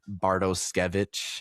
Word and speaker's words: Bartoskevich: Assuming we're gonna see Bartoskevich is how you pronounce it.